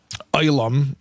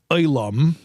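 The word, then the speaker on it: עולם: In fact, the word for world itself in Hebrew, olam, that's my havara, that's my pronunciation.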